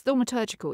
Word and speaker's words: thaumaturgical: used the word, I'm not sure how to pronounce this, thaumaturgical. Is that right? Yes, thaumaturgical, yes.